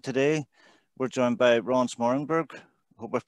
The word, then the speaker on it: Smoorenburg: with sensei and today we're joined by ron smartenberg i hope we've pronounced that right yep ronzo yeah ron's a